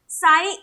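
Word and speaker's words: Tsai: देखिए एक चीज ध्यान में रखिएगा, तो साई कहिए या साई कहिए, जो भी आप इसको प्रोनाउंस करते हैं, कई जगह टी जो है इसको साइलेंट लिया जाता है।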